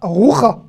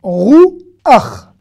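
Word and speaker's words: רוח: Ne prononcez pas roucha. Le chet avec un a à la fin d'un mot se prononce ach. Rou. Ach.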